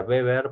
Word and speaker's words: Weber: lo deben haber leído se escribe webber con w se pronuncia beber porque el señor es alemán el apellido es alemán sí max weber es